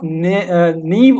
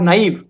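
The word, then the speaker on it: naive: The antonym of नीव और नाइव, दोनों प्रोनाउंसिएशन इसकी करेक्ट है डिपेंडिंग अपॉन कि आप किस एक्शन पे चलते हैं।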